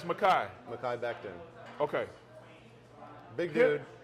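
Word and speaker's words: Mekhi: It's Makai.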